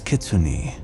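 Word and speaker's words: kitsune: in Japanese you've probably heard of it as kitsun though in Korean it's pronounced kumiho what I was sent prior to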